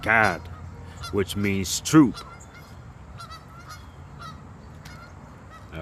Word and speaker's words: Gad: And in the Hebrew, it is pronounced God, which means troop.